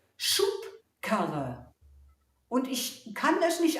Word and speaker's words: Schubkarre: Schaut mal, was sich in der Aussprache wie ein P anhört. Schubkarre.